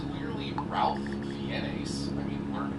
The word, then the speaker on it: Ralph Fiennes: the rules of red dragon first it's clearly ralph fiennes i mean learn to pronounce things but also referencing ralph fiennis from red dragon he's gonna talk in for